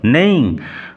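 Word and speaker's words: neighing: নেইং উচ্চারণ লক্ষ্য করো নেইং ঘোড়ার হেস্রা ধ্বনি ঘোড়ার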